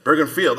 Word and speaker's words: Bergenfield: Bergen toown New Jersey if I'm saying it right ber is said that rightfield Bergenfield oh thank you by the